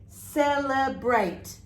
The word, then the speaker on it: celebrate: In this case, when we say this word, celebrate, yes? Yes, you can see that the here is in the sound of A, celebrate. And the E is silent, yes?